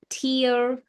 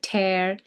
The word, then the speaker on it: tear: Now if I say this word tear and if I say tear you have different meaning. So this is tear. Tear the ones when you cry. Okay those are tears. And this tear means when you rip a ribbed paper. Tear don't tear the paper.